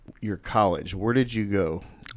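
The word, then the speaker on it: Geaux: Well, hey, there which by the way is spelled G E A UX, not GO.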